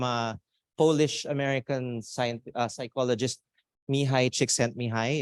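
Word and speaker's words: Mihaly Csikszentmihalyi: Polish American Science psychologist mihai chick sent me hi if you want to know how to pronounce this everyone together me hi chick sent me hi that's his name and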